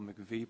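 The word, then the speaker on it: MIECHV: made sense but fortunately we have the pronunciation of this acronym and it's relatively simple McVie program so I'm going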